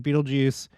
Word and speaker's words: Betelgeuse: of the Orion constellation here's Orion's Belt and Beetlejuice and that is how it's pronounced is basically the right shoulder of Orion